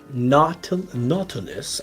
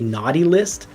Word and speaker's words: Nautilus: some scheduling for Aviator Nautilus I don't think you're supposed to say naughty list but it really does almost make me feel like it should be pronounced naughty list but I'm sure that